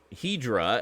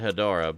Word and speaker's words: Hedorah: wonderful scene where uh hedra as they pronounce it in the that particular cut i forgot about that and i grew up with that dubstep pretty sure everyone pronounces it hedorah but anyway uh flies